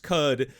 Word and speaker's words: Qud: a lot of things all I know is that cud is pronounced cud because that's what the devs said and I'm sticking to it otherwise I have no